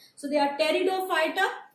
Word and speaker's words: Pteridophyta: So we've done Thallophyta, we've done Bryophyta, and we move on to the next one, Pteridophyta, right? Pteridophyta, P is silent, so we do not pronounce that. So they are Pteridophyta, right?